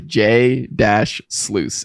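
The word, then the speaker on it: jsluice: this is awesome but how do I pronounce the name and so he replied to J dash sluice s-o-o-o-s-e-j sluice so I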